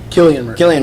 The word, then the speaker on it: Cillian: Especially loved, how do you pronounce it? Cillian Murphy? Cillian Murphy, back as Jonathan Crane, as judge, can't jury, get rid and of that guy.